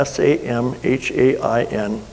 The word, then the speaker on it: Samhain: dead um it's pronounced or spelt a i s-a-m-h-a-i-n but it's pronounced samhain and uh becky just thought that